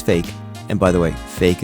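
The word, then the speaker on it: Faik: and by the way fake is spelled f a i k so it's at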